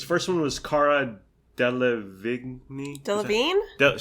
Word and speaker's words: Delevingne: Delevingne? Sure. That's how you pronounce it.